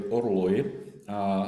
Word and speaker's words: orloj: And the Czech word is actually orloj. So Orloj. pronunciation is quite different from, I guess the origin is French.